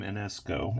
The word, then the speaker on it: Enescu: an image of George Enescu. And I'm pretty sure I'm not saying that right. You may know him more from the French pronunciation of his name, Enesco.